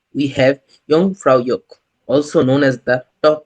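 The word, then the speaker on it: Jungfrau: The name Yong Fra is quite unique and not everyone pronounces it correctly. Some people say it as Jaff France, but the right way to say it, Yong Fra.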